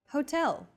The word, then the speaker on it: hotel: instead of subway next Hotel see that in Portuguese H is the first letter is always silent except for specific foreign loan words for a specific Hotel